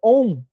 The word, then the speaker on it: OM: OM O M, né, que se pronuncia da seguinte forma, né? a gente divide a capacidade de fumonar em dois tempos, pro O e pro M, da seguinte forma, o até exalar o ar por completo dos pulmões.